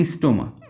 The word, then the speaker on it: স্ট্রোমা: Liquid থাকে বা তরল থাকে সেটাকে আমরা বলি স্ট্রোমা। এইযে দেখ এইযে এগুলা এগুলা। এরকম যে তরলগুলো থাকে টোটাল পাশের ভিতরে সেগুললাকে আমরা বলি কি? এগুলাকে বলা হয় স্ট্রোমা। স্ট্রোমা। নট স্ট্রোমা। স্ট্রোমা হবে এটা।